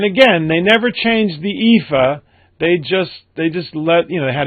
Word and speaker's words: EAFE: And the other one, the MSCI EAFE, and that's how it's pronounced, by the way, EAFE, stands for Europe, Australia, and the Far East.